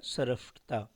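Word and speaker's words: स्रष्टा: यहाँ स में र की मात्रा है, फिर मूर्धनी स आधा है और ट है। ठीक, स और इसमें किसकी मात्रा है, र का मात्रा है, तो इसका उच्चारण हो जाएगा सरष्टा।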